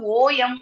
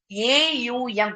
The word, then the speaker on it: ஓம்: நீங்க ஓம் ஓம் ஓம்னு சொல்றது ஓஎம் ஓம் கிடையாது, ஏயுஎம். இப்படிதான் வந்து ஓம் அப்படின்றத நீங்க உச்சரிக்கணும்.